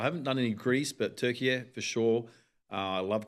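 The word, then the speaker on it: Türkiye: It's um well the pronunciation now is Turkey. Turkey. Yeah, they've changed. That's that's how they say they and that's how they want us to say it.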